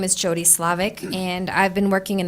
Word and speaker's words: Levesque: accept Kip's application thank you next is Jody's Levesque did I say it right thank you and good evening board members my name is Jody Slovak and I've been working in the field of